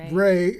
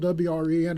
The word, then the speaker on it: Wren: and enunciation for see i would say wren but it looks like red yeah but it's ray so it's hey i'll